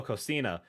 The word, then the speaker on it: Coquina: Coquina is pronounced, oh, Cocina.